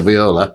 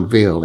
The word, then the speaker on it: Viola: how we pronounce a viola. I think the correct pronunciation is the Shakespearean one. A viola.